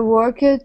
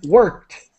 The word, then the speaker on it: worked: And worked. The ED is pronounced as a T.